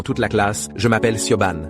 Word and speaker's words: Siobhan: Je m'appelle Siobhan. Le H est muet. Ça se prononce comme Shivan.